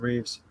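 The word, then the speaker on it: Rives: Yeah, R.I.V.E.S. You pronounce it Reeves.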